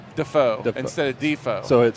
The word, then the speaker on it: Defoe: Don't even imagine don't even imagine the E is there. It's a D, it's a space, it's a foe.